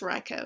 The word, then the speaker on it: Raikou: you love your raikou Rocco is coming back can you say Rocco or Raikou it's Rocco technique I've been saying